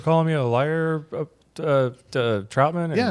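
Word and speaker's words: Trautman: Troutman.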